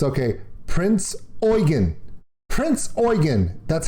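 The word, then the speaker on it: Prinz Eugen: now recognized as japan's worst naval disaster the prince eugene did you hear that wait i'll play it again the prince eugene okay they spell it prince e-u-g-e-n it's okay prince oygan prince oygan that's how it's pronounced prince oyen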